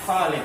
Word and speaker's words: Khalid: Perhatikan tadi si Ahmad bacanya Khalid. Nah, mungkin pengaruh ke Khalid. Jadi karena Khalid, kalau ini Khalil, panjangnya di dalamnya. Dalam bahasa Arab, panjang pendek itu pengaruh sekali. Panjang pendek pengaruh.